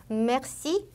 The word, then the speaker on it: merci: 그다음 중간에 올 때는 merci, Marseille, Versailles. 지금 제 발음 들어보시면 흐 발음이 거의 안 들렸을 거예요. 마치 그냥 기억 받침처럼 들렸을 거예요. 이렇게 뒤에 쓰나 뜨 발음이 오는 경우에 기억 받침처럼 발음이 됩니다. Merci 이렇게요.